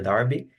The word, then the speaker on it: Derby: Se escreve como cigarro Derby, mas se pronuncia Derby.